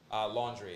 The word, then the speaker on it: Laundrie: Laundrie. It's spelled really strangely. I don't really want to give him too much. Laundry? Laundry, yeah. It's laundry, like washing clothes.